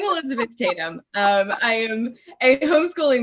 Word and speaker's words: Elizabeth Tatham: for a second man i'll say my name i could say that correctly i'm elizabeth tatum um i am a